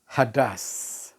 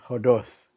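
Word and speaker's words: ὁδός: Bahasa aslinya mengatakan hadas. Ya. Hadas. Kadang-kadang kalau kita lihat dia punya ejaan tentang hadas itu, kita boleh katakan hodos. Tapi sebutannya hadas.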